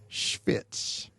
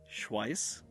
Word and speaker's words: Schwyz: So one of the cantons was called Schwyz, and I'll spell that and then clean off my microphone. But it's SCHWYZ. Schwyz. Schwyz. How would you pronounce that, Elliot? Schweiss.